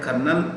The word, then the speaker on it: Colonel: The first time I read the word, I heard the word, I thought the spelling would start with K. K-E-R-N-E-L, Colonel. The actual word is C-O-L-O-N-E-L. How it's spelled Colonel, how it's pronounced Colonel, I don't know.